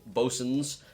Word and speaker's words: boatswain: B-O-A-T-S-W-A-I-N. It looks like boatswain, but it's bosun.